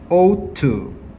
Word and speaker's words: ought to: 자, 얘는 발음 어떻게 해야 되냐면 out이에요. ought to.